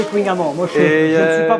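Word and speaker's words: Kouign-amann: Il paraît qu'il faut prononcer Kunyaman.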